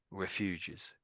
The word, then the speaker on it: refugee: So, refuge and refugee. That's the difference. You put an extra e on the end, it becomes refugee.